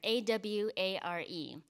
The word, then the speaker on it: aware: sense of aware and aware is spelled the way we um have it in english aware a-w-a-r-e it's actually comes from the japanese word aware um and there's so